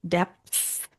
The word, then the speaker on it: depths: Depths. I'm going to be taking you into the depths. You don't pronounce the P, do you? Depths. I think I say that word.